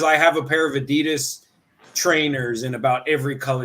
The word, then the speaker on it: Adidas: and the Germans say the Germans say Adidas too Adidas is the proper German pronunciation yeah but you see